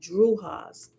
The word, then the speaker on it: Drujas: And after Druha, it has a Druha is spelled Drujas.